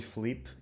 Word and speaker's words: Filipe: Em Lisboa, e acho que mais no sul do país, na metade sul, nós não pronunciamos o som I em palavras como piscina ou o nome Felipe, que é o teu segundo nome.